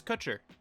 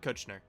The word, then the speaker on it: Kutcher: sorry i'm so dumb his last name is kutcher not kushner am smart maybe he